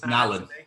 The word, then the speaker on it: Nallon: It's like an Allen. So you say Allen with an N in the front.